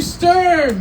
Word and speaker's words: Sturm: a stoner extraordinaire give it up for stern did i get the right pronunciation yeah thank you um yeah i like